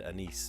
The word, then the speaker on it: anise: People pronounce it different ways. I think correctly it's anise, but I have heard it said anise, too.